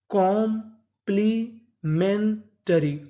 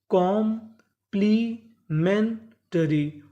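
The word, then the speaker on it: complementary: कॉम्प्लीमेंटरी। आखिरी में हमारा आर वाई है। आर वाई को पढ़ते हैं री। तो मीनिंग क्या बनी फिर से? कॉम्प्लीमेंटरी।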